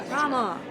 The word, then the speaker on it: Rama: Rama. Yeah. Rhymes with Obama. Yeah. It's Rama. But I'm Mexican. Rhymes with Obama. So it's Rama.